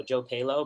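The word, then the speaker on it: Joe Pahlow: So my Instagram is JOEPAHLOW, and it's pronounced Palo, Joe Palo, but it looks like Palo.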